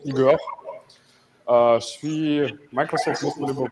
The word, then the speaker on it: Ihor: Évidemment, c'est une citation qui est en France, c'est écrit Igor, mais ça se prononce Igor.